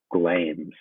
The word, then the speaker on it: Glamis: You can see the word sometimes has two syllables, but usually it's only one, as in here. Here, it's just one syllable. It's Glamis, the Thane of Glamis.